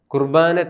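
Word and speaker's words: ܩܘܪܒܢܐ: കുർബാനയുടെ സുറിയാനി പേര് കുർബോനോ പൗരസ്ഥയ സുറിയാനിയുടെ ഉച്ചാരണമാണ് കുർബാന എന്നുള്ളത് നമ്മുടെ സുറിയാനിയുടെ വെസ്റ്റ് സിറിയക്കിന്റെ കൃത്യമായ ഉച്ചാരണം കുർബോനോ എന്നാണ് പൗരസ്ഥയ സുറിയാനിയുടെ സ്വാധീനം മൂലമാണ് നാം ഇപ്പോഴും കുർബാന എന്ന് പറയുന്നത് വെസ്റ്റ് സിറിയക്ക് ചരണം കുർബോനോ ഇനിയും വിശുദ്ധ കുർബാനയുടെ പ്രധാനപ്പെട്ട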